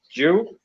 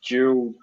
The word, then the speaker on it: Juwel: It is the same brand as the tank itself, which is Jewel, which is spelled Juwel, which is a German-made brand, and that's what this tank is. This tank is a Jewel 200-litre dark stained fish tank, and it is